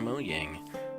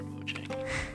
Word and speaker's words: Mojang: You would think that Microsoft and Mojang, that's technically how they pronounce it, I prefer Mojang, but you would think they would fix this because it makes the game unfreaking playable.